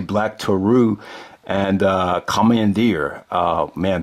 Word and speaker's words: Black Taurus: against uh black to Black Taurus and uh commandir so it's not black Taurus I.E pronounce it actually black tarou and uh commandir uh